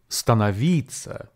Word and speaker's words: становиться: very long Russian word stanavita which means to become in English this word has four syllables and the stress falls on the penultimate third syllable be advised there are